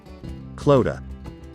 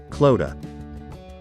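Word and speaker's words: Clodagh: once again row sheen how exactly do we pronounce this name kloda let's repeat clotha once again clotha we're going to learn on how to pronounce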